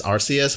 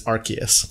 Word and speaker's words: Arceus: People used to pronounce it as Arceus, but it's Arceus.